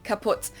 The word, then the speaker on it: kaputt: we pronounce it the same way, kaput.